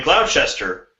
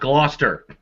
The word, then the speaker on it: Gloucester: superman three and in cloud chester go on to their man dressed as superman stopped an ATM robbery it's pronounced gloucester all right I've always been bad about that they have weird pronunciations there well yes Gloucester thank